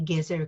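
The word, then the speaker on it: Gezer: saw in in the gears era calendar the word gears era might ring a bell to some of you it sounds like the word the common word in Hebrew for carrots but it is actually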